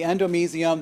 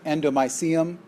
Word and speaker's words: endomysium: So you've seen these terms before: the endomysium, the perimysium, and the epimysium. You may hear others pronounce them endomysium, perimysium. Either pronunciation appears to be acceptable. I hear them both all the time.